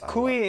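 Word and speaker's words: kuih: And uh we did have some more comments by the way calling us they said that I mispronounced the word kui. It's ku ku ku ku. No it's kui in in Malaysian and ku for whatever reason they spell it that way in Singapore.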